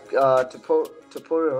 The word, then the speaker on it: Topuria: I like Topuria, right? That's how you say it? Yep. Yeah.